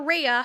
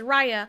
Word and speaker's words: Raya: about raya i know i kept calling her rhea her name is raya from raya and the